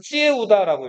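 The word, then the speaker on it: Triệu Đà: 조타는 그냥 베트남어로 하면 찌에우다라고 읽어요.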